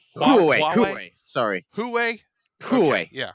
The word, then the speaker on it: Huawei: It's currently used, we believe, I think, in the I always pronounce this wrong. Huawei VR glass. Is it Huawei. Huawei.